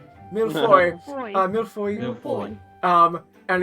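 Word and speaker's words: mille-feuille: It's pronounced millefoy. Milfoy.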